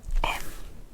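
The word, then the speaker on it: ㅁ: This is m M sound. M mm M-m. So whenever you see a square in Korean, it will always be MM.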